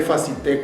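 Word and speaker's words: Facilité: grupo facilite así les escribe facilite con acento en la de al final más y le facilite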